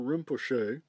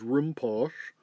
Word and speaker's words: Rinpoche: This was to visualize Guru Rinpoche, which at the time I mispronounced as Rimpoche, sitting in a lotus